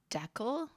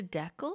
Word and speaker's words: decal: You do want to stress on the first syllable, on the D syllable.